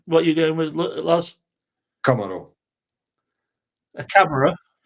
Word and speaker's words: Camaro: yeah that's five points you pronounced it wrong you said camera or camel nobody know or a